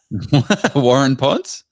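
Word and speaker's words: Waurn Ponds: Warun Ponds?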